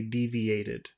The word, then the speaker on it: deviated: or a D sound it adds a new syllable so you have to say deviated you have to add